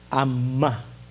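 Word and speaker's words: אמה: En hebreo se dice para codo, esta medida de distancia, amá, con acento en la A.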